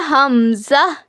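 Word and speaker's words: ء: हलक के नीचे वाले हिस्से से अदा होता है। यानी इट is pronounced from the bottom of the throat. Same ह के जैसे यानी हमजा और हा इन दोनों का मखरज सेम है।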